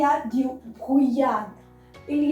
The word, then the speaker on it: brouillard: typical word, that is il y a du brouillard. Il y a du brouillard. That is, it is foggy. The weather is foggy. Répétez après moi. Alright. Brouillard.